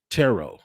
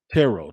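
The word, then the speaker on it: Turo: or today's episode is brought to you by tarot not t-u-r-o but it's pronounced tarot tarot is the world's largest sharing marketplace with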